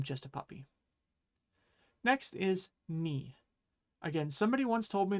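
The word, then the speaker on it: に: And that's how they remember that this is pronounced ni. Again, I'm sorry. I really don't see it. But hey, if it helps you and you remember that this is ni because it looks like a knee, then let me know in the comments.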